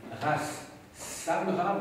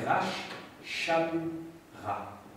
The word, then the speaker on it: Ras Shamra: Alors quand vous avez cet accent circonflexe à l'envers sur un S, en fait cela signifie qu'il faut prononcer ch, tout simplement. Donc il ne faut pas dire Ras Samra, mais Rash Shamra.